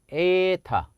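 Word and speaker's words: ἦτα: 이건 H 발음 이 아니에요 . 제 가 이 관계 를 통해 H 발음 을 나타 냈는데 , 이건 ' 에 ' 소리 가 나네 요 . 하지만 이미 ' 에 ' 소리 를 내는 제품 이 하나 있었어 요 . 엡 실론도 있었다 . 저건 항상 짧은 모음 이에요 . 에타는 항상 장모음 입니다 .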